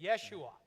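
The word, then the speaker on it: ישוע: Yeshua. A yeh sound, a Y. Jerusalem is not Jerusalem, Rodney pronounced?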